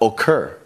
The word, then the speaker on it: occur: in the verb comes here we've got occur this dress is on the end of the word here